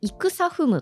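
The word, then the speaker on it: 戦雲: なんですがこれは戦うさという字にあの空の雲と書いて戦ふむと読ませるんですねあの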